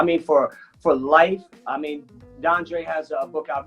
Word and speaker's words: DeAndre: Like I watched the show last night with DeAndre and Don't say DeAndre. Dondre. DeAndre. Yeah, you said it right the first time.